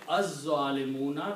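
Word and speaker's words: الظالمون: Now, if you put the al before that, okay, then it will become az-zalimuna, because you do not pronounce lam.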